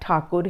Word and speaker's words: ठाकुर: गया है तो अ क्योंकि स्पेलिंग हम टैगोर लिख रहे हैं तो मैं टैगोर बोलना पड़ता है पर आप ठाकुर लिखेंगे तो भी सही है ओके तो रविंद्र नाथ